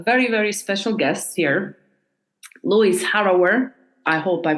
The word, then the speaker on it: Lewis: with pronouncing this name no no Louis is fine it's okay I've heard it many many different ways so okay good long as it's not like Lou that's um I'm Le